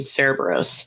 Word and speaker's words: Cerberus: I think you're right in that in order to pronounce a C, you do a K sound.